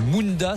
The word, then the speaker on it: Mundat: Et dans un instant, on s'enfonce dans la forêt du Munda, c'est comme ça qu'on prononce Mundat, et on aborde les terres australes et antarctiques.